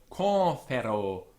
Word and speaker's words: confero: And on the anti-penultimate syllable, if the penultimate is light. So here we have the penultimate light, right? Fe, fe. It hasn't got any tenseness in it. Fe. So, confero, confero.